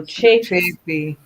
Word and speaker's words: Chafee: She said a long A. Long A, so Chafee.